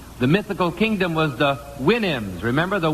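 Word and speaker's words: Houyhnhnm: mythical kingdom was the winam remember the winam to sound to pronounce supposed to pronounce it like you do a horse's Winnie I think okay here's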